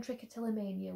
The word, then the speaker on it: trichotillomania: So the second question is how to pronounce. So it's Trichotillomania, and it's really long and really silly.